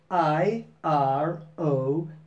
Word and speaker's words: iron: And today I want to know if you know how to pronounce the word iron.